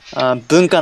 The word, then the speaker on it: Bunka: We say Bunka no Hi in Japanese. Bunka. How do you spell that?